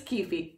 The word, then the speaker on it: Keefe: If you think it's pronounced Keefe, you can fight me in the comments. I will not accept that it's Keefe. He's Keefe. Keefe from The Lost, what are you?